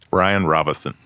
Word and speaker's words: Bryan Robison: Bryan Robison. Yes, without an N.